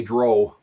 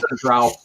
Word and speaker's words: Drow: Yeah, now the people who pronounce it Dro are probably thinking they're right because the name Drow in D&D was a spin on the Cornish Tro, which is a type of troll from Cornwall. If you look in the pronunciation guide in Dragon Magazine, actually both of them are acceptable, but I'm just saying